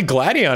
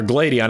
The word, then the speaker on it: Gladion: windows open up but apparently gladion is here or gladon how however you want to pronounce that I'm going to go with gladion well no he used